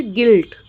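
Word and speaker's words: guilt: में आई आ रहा है तो इसलिए यू साइलेंट हो गया है फिर गिल्ड फिर गिल्ट गिटार गार्ड बिस्क बिस्किट ठीक है तो यहां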